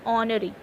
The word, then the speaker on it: honorary: H is silent, so we are pronunciating it as R, and honorary degree as honorary.